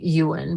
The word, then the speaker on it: Ewan: It happened to me before with Ewan McGregor, or his name would be more like Ewan, but I call him Ewan because I didn't know how to pronounce it when I first saw it.